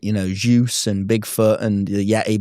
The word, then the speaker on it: Zeus: You You were saying Zeus like juice. You were saying it with a J. Zeus. No. Zeus. Zeus. How? I don't know why you can't say this. Z like the letter Z.